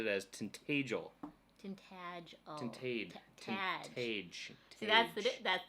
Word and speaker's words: Tintagel: it always the same he's saying tag like badge tintagel okay it's integral all